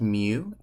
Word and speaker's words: mu: is the Greek letter it's called mu and you kind of like the pokémon Mew but not really that's how you spell